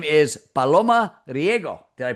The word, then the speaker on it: Riego: Her name is Paloma Riggo. Did I pronounce that correctly?